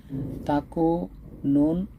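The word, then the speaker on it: تَكُونُوا: নুনের উপর যে পেশটা আছে এই পেশটা উচ্চারণ করতে গিয়ে অর্থাৎ এক আলিফ পরিমাণ লম্বা করতে হবে। এখন আমরা দেখি তাকু নুন অ পেশ নু, নু দুন্তন ন, আর উপরে পেশ বলতে রসকার, অর্থাৎ দুন্তন ন রসকার নু, এই নু উচ্চারণটাকে ও ইশারা দিচ্ছে আপনি একটু এক আলিফ করে লম্বা করে পড়েন। এর মানে দাঁড়াচ্ছে তাকুনু তাকুনু তাকুনু তাকুনু।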